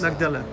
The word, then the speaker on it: Magdala: I don't know how to pronounce in French. Magdala. It's Magdala. And uh it has been